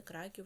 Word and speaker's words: Краків: Гаджик віртуально відвідав такі польські міста: Варшава, Катовице, Краків, Перемичесь, Основець.